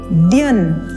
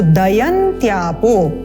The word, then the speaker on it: दयन्त्यापो: और द्यन, अब यहाँ पर भी बहुत मिस्टेक होती है, इसको द्यन ऐसे बोलते हैं लेकिन ये तो पूरा द है, तो दयन्त्यापो, क्लेदयन्त्यापो, इन चीजों का आप ध्यान देंगे।